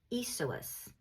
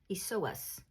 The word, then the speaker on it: Iesous: And when the name Yeshua was translated into Greek, it became Iesous. Iesous. I had to listen to pronounce that because it's Greek and I don't talk Greek, but it's Iesous. Iesous.